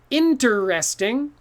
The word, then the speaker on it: interesting: t-rexes okay but interesting too many syllables too hard to say so we mix it up interesting becomes interesting so this e disappears in tris ting can you say with me interesting interesting okay i learned an interesting fact the other day that's a lot easier than saying i learned it interesting fact interesting fact okay so this is a really common one that people will say four syllables when they only need three don't say interesting say